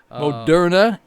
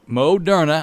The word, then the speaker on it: Moderna: have a new uh vaccine coming out the modern moderna i'm going to learn to say it correctly